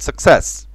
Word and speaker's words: success: قبل كده في النطق، فانت عندك success it has two c's، يعني فيها حرفين c. الاولانية تنطق suck يعني k k k k، التانية س س س success success، علشان السي التانية وراها اي فتنطق سي، اما السي الاولى مش وراها اي فتنطق كي.